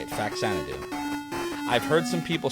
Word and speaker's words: Faxanadu: fanu it's the only way to say it faxanadu I've heard some people say fanad do while